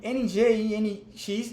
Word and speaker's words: Nginx: Então, os servidores web mais populares que a gente tem hoje em dia é o Nginx, se escreve N-G-I-N-X, mas se pronuncia Nginx.